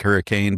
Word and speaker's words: Hurricane: It's spelled like hurricane, but they say Hurricane, Utah.